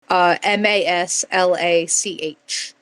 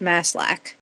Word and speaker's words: Maslach: Apologies, I know I'm pronouncing that last name wrong. Maslach. I think that's pronounced Maslach. But when his girlfriend Christina